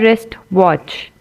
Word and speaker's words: wristwatch: See, you don't pronounce W in wrap and you do not pronounce W in the wrist also, right?